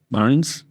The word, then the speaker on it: Barnes: So here we are with Amanda Barnes. It's okay, how my pronunciation?